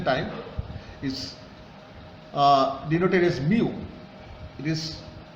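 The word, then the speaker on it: μ: expected project completion time is uh denoted is Mu it is pronounced as Mu summation t i j for critical path for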